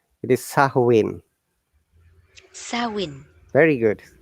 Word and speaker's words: Samhain: celtic celtic festival of samhain okay here well another trick the what i have underlined it because the am is silent it is a gaelic word it is sahuwin sarwin very good saowin when people could light